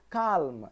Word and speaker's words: calm: half I'm not saying calm I'm saying come so there you go the letter L is silent the second point says